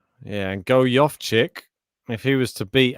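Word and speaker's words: Gojowczyk: versus and i've got the correct fantasy correct pronunciation go yoff chick there you go oh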